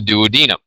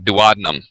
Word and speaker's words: duodenum: of the small intestine called the duodenum not duodenum very commonly mispronounced medical term okay and then essentially